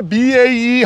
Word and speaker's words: BAE: We've got the BAE Hawk, also known by those of you that say it wrong, the Bay Hawk, which is not correct.